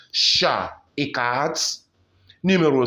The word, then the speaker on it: chat: The T is silent, not un chat, but un chat.